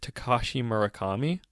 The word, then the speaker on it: Takashi Murakami: to mention, was done by, I believe the pronunciation is Takashi Murakami, the creator of the super flat art style in Japan, who Brendan contacted on a whim.